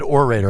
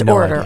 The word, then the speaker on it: orator: I always said orator and then I heard Anna say order, so now I'm totally flummoxed. It's order. Anna is correct.